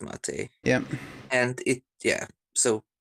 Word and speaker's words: mate: does it doesn't matter because it was named after the drink yes so that should be pronounced mate yeah and it yeah